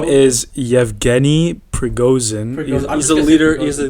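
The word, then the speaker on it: Yevgeny Prigozhin: say this guy's name okay his name is yevgeni pregosin he's a leader he's the leader of the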